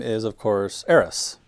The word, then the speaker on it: Aerith: And her name is, of course, Aerith, right? Aerith. So, yeah, in the original game, there's an S in it.